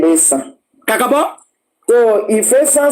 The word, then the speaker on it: Esan: The Esan people, they are just like that Esan now. Isha. If the British want to pronounce Esan, they will say Isha.